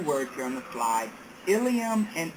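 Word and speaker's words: ilium: here on the slide ilam and ilam they are both pronounced ilam but they both are spelled differently the first one is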